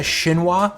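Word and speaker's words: chinois: my fine mesh strainer this is called a shinwa but it's spelled weird it's kind of looks like shin noise but this is my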